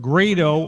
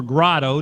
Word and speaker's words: Grado: You can see it's in MC4 Grado or Grado, depending on how you pronounce it, G-R-A-D-O.